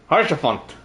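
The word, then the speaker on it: Haurchefant: Harshafon. Hairdresser is Harshafon. Good to know. And I'm not gonna remember how to pronounce that.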